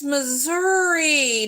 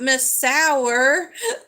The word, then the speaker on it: Missouri: he pronounced it and he goes oh it's Missouri not Miss Sour but anyway so we